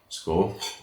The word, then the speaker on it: Skål: The pronunciation rule first. Skål.